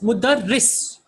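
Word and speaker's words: مُدَرِّس: This is mudarris. Okay, so you have to pronounce it clearly. So this is mudarris. What is the second one? Oh, okay, that is mudarris and that is mudarras.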